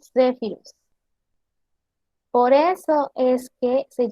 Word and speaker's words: Zephyrus: Su sonido, como podemos ver aquí, normalmente se describe como DS, Zephyrus. Pronunciación Zephyrus.